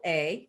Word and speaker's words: Shondrella: And by the way, her name is spelled Shondrella, just like it sounds.